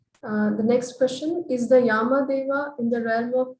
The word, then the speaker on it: Yama: I think the Yama heaven is the short A, and Yama, the gatekeeper, is a long A.